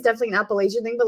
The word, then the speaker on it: Appalachia: But the great debate is like Appalachia or Appalachia, and the correct pronunciation is Appalachia.